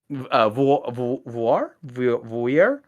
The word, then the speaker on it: Voir: Going back to this Voir? I can't pronounce it. It's like noir, but with the V.